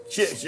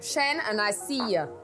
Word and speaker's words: Shenseea: Shenseea, I said it wrong? Shenseea. Shenseea. Shenseea. Shenseea. Shenseea. Okay, look. Shen and I see ya.